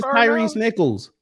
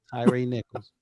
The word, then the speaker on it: Tyre Nichols: But Tyrese Oh, speaking of Tyrese Nichols, and I want to Tyrese Nicholls.